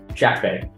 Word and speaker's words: Shakfeh: Shakfeh.